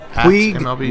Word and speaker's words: Puig: Puig, is that how you pronounce it? Puig? It's Puig. Thank you.